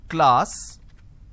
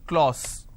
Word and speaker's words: class: for example the word class lot of people pronounce this as clause it's not claus it's class so i have a